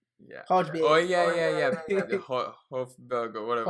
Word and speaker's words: Højbjerg: Can't pronounce his name. Some Hodberg. Yeah. Hodberg. Oh yeah. Hofberg or whatever. Højbjerg.